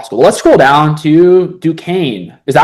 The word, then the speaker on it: Duquesne: Let's scroll down to Duquesne. Is that how you pronounce that? It's in Pittsburgh, Duquesne. I know I'm pretty sure it's Duquesne.